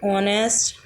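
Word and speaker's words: honest: में से कोई है तो उसके पहले यदि एच आ जाता है तो वहाँ पर एच साइलेंट हो जाता है तथा एच का प्रोनंसिएशन नहीं होता है। For example ऑनेस्ट, our, honour.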